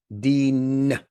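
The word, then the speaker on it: دين: But the word deen has an additional consonant, the N sound at the end of it. Deen. And the noon, that letter is called noon in Arabic. The N sound is what is called a nasal sound that produces, you can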